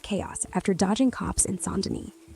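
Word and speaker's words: Saint Denis: Right now, Goop's out by Emerald Ranch, stirring up chaos after dodging cops in Sonden. Yep, that's Saint Den pronounced right.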